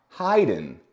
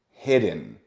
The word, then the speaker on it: hidden: I hear I Haydn why don't I hear Haydn because we have two consonants exactly the E can jump one consonant but it cannot jump to please translate that if you can in the comments please translate because here we have one two and it can only jump one so it does not get to the eye so it's not Haydn it's hidden hidden another example would be